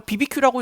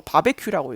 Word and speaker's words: BBQ: 아 그리고 저걸 BBQ라고 읽으면 안 돼요. 바베큐라고 읽어야 돼요.